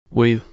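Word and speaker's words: oui: No one refused to get my beans, but each time I was told we, which means this, and is pronounced we.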